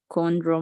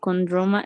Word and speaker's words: chondro: yes right is chondro so you just say the CNO no the h no the h no it's even though in Spanish you say chair right yeah the CH but in English you don't have the trouble you avoid this pronunciation always okay just cornrows chondro